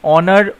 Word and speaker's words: honor: honor অ উচ্চারণ হচ্ছে vowel sound, তাই অ্যান হলো।